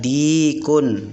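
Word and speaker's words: ديك: artinya ayam jantan Hada Dikun Hedi panjangnya panjang di nya panjang Haddadi pun bacanya panjang jangan pendek jangan pendek di kulit salah tapi yang benar Dikun bacanya panjang kemudian berikutnya nyepam ya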